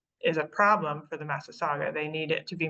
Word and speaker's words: Massasauga: On the eastern, I always pronounce this wrong, the eastern Masagua, pronounce that for me? Massasauga.